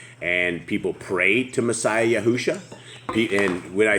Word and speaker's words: Yahushua: Messiah Yahushua, it's like Joshua with a Y.